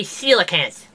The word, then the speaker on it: coelacanth: It's called a coelacanth.